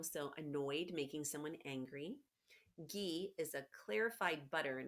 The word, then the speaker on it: ghee: Ghee is a clarified butter and it rhymes with key, so it's a kind of butter.